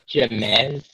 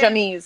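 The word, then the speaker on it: Ja'Mes: So JA apostrophe MES. MES. Jamez. James. This is James. Nope, it's a girl. Jamise. Her name is Jamise. Jamise. Yeah, you got it. It's Jamise.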